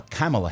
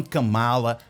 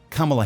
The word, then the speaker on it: Kamala: Primeiro vamos ouvir como ela pronuncia o próprio nome. Ela fala Kamala Harris, não Kamala, Kamala Harris.